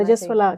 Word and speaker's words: रजस्वला: रजस्वला कहते हैं, तो मेरा प्रोनाउंसिएशन भी इसका जी वो थोड़ा सही करना रजस्वला कहते हैं।